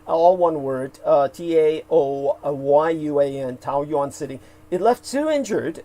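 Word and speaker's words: Taoyuan: City that's spelled t-a-u-o like Tao uh Yuan like the Chinese currency Yuan y-u-a-n Tau yon all one word uh t-a-o-y-u-a-n Tau Yuan City it left two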